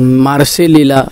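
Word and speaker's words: Marseille: केलेली होती निसला त्याच्यानंतर मार्सेलीला ते मार्से म्हणतात त्याच पूर्ण स्पेलिंग मार्सेली असं आहे त्यामुळे तिकडे मीटिंग केलेली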